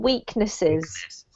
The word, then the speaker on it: weaknesses: Don't forget that this is plural, so you need to pronounce the last syllable, weaknesses.